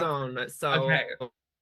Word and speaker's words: Dordogne: Would you Yeah, like to pronounce- Dordogne. So Okay. Oh, It's just too good. it's just too good. So yes, perfect. It's set in France, so that's hence the pronunciation.